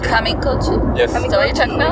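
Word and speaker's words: Kamikōchi: Kamikouchi?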